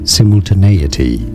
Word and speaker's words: simultaneity: In British English, it's generally pronounced as simultaneity.